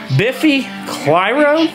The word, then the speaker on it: Biffy Clyro: 2 years later, So whenever you first gave me this album, which is Biffy Clyro, is that how you say it?